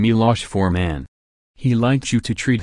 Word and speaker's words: Milos Forman: touch with his homeland he pronounced his name Milosz for man he likes you to